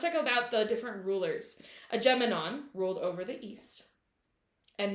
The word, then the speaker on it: Agamemnon: Agamemnon. Okay. Yes, that is correct. Not Adja.